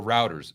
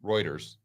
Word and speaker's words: Reuters: article from the guardian or routers excuse me Reuters I would say routers uh you can tell in my first jobs was working on a construction site okay we get over to Reuters that's pronounced right China to use Shanghai